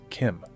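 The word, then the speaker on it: CHIM: yes it is pronounced Kim I know it deeply upsets me as well but the CH is pronounced as a k okay that's the shim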